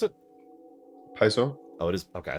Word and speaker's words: Paizo: Azio. How do you pronounce it? Paizo?